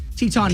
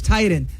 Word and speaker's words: Teton: It's Tieton, but it's like but then you got the Teton Mountains in Idaho. I know. Which Woody at one time, said Teton, and they're like, no, it's Titan.